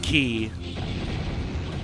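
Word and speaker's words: quay: Next level name is key.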